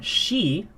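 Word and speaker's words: 死: The reason being is because the term she is also the way you pronounce the word meaning death or to die.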